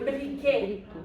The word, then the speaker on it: briquet: Un briquet. Je ne prononce pas le T, hein?